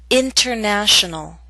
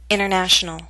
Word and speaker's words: international: the same prefix enter I'll first read the word with careful pronunciation you will hear the pronunciation of T then I'll repeat the word with fast andal pronunciation you will not hear the T listen carefully and try